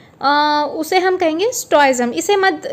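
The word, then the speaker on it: stoicism: तो इसका प्रोनाउंसिएशन आप देखिए दोस्तों, STOH, STOIZM, स्टोइज्म।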